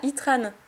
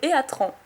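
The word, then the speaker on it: Heatran: Ah, Itran. Ou Eatran. Je sais pas comment vous dites. Moi je dis Itran, je préfère dire comme ça.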